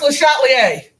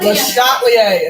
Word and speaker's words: Le Chatelier: It's pronounced Le Chatelier. He's French. Le Chatelier. Le Chatelier.